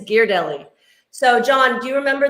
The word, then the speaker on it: Ghirardelli: patty gear deli square gear deli not ghirardelli ghirardelli if you're a san franciscan it's gear deli so john do you